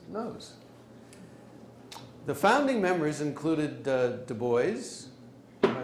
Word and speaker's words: Du Bois: The founding members included Du Bois. Am I pronouncing it right? The American version, Du Bois.